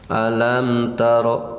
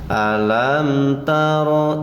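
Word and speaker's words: أَلَمْ تَرَ: Awas jangan ditekankan dan juga jangan didengungkan, biasa saja mengalir. Alam taro ilal, itu tidak boleh. Alam taro, nah itu ditekan dulu, tidak boleh ya.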